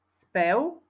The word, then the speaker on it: spev: tam u lev napríklad Ďalšie slovo spev čítame SPU spev ale píšeme spev slovíčko domov čítame domov u